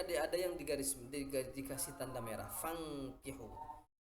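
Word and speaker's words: فانكحوا: menyatakan, a'udzubillahi minasyaitonir rajim, fankihu ma taba lakum minan nisa'i mathna wa thulatha wa ruba'. Di sini ada yang dikasih tanda merah, fankihu. Nun sukun bertemu dengan kaf. Itu wajib dibaca dengung, nama hukumnya ikhfa.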